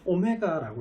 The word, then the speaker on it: 오메가: 그래서 이거 읽을 때 뭐라고 읽냐면요. 오메가라고 읽어요.